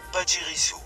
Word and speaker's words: Pachirisu: qui s'est lamentablement raté, Pachirisu qui se prononce... Pachirisu. Ah, à la japonaise en fait.